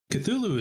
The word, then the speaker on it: Cthulhu: you know so appreciate you bringing it up cthulhu and you know we'll do some due diligence on it thank you have a great day thank you and uh published thank you for pronouncing that correctly that's cthulhu is like a sea monster from science fiction